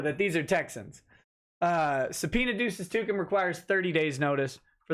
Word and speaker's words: duces tecum: to produce documents okay so yes a subpoena duces to come and yes I know it's pronounced wrong and I don't care I don't